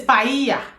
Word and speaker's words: paella: So you see double L is Y in in Spanish. Double L is Y. Mhm. So anywhere you see double L you pronounce it with the Y sound.